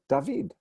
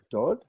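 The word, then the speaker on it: דוד: looking at this word, I have to figure out whether it's dod. Oops, sorry, I didn't mean to do that. Whether it's dod. Wrong alphabet here. Dod or dud.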